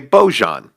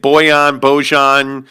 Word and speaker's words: Bojan: It depends on who you ask. I generally say Bojan. If you flip on the Jazz broadcast, you'll hear multiple people say it Bojan, Big Nuts.